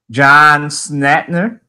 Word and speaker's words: John Schnatter: however he pronounces it sorry I'm gonna try to pronounce this right John Schnatter I believe that's how he pronounces it and our reaction